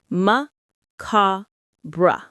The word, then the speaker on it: macabre: The stress is on the second syllable, ka. Say it with me. Ma-ka-bra. It's like ma, and then ka as in car, and bra.